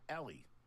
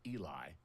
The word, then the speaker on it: Ely: Ellie. No, I'm doing this wrong. I'm going to say it's Eli, even though it's spelled E-L-Y.